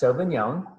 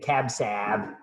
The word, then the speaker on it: sauvignon: the cabernet sauvignon uh pronounced sauvignon people can't say cab sab that's that's not right um so the cabernet